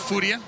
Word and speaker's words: Furia: Very good, Furia. Stress on the first vowel, syllable.